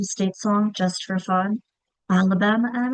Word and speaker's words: Alabama: So, if we're going to show the accented syllable in Alabama, Alabama, we can have them practice stretching out that accented syllable. Alabama. Where do you hear the schwa? I hear the schwa at the end of Alabama.